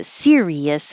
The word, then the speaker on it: Sirius: series versus Sirius so Sirius has three syllables stress on the first syllable like sunflower serious sunflower that's a